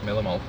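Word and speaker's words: millimole: Millim mole. Yeah, that's right. It's not millimeters. No, it's millim mole.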